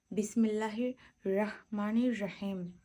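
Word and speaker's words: بِسْمِ ٱللَّٰهِ ٱلرَّحْمَٰنِ ٱلرَّحِيمِ: এখানে সঠিক উচ্চারণটা হবে বিসমিল্লাহির রাহমানির রাহিম। হাটা গলার মধ্য থেকে আসবে রাহ।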